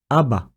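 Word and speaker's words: אבא: The pronunciation is: Aba. aba. We have the letter Aleph, decorated with patah, followed by the letter Bet decorated with Kamatz Gadol.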